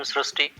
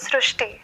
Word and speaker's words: Shrusti: We have heard of Shrusti, but this is a very unique name, Shrusti. So in Marathi, the word Ri is pronounced as Ru. So that is why the pronunciation goes Shrusti. So hereby the spelling, sir.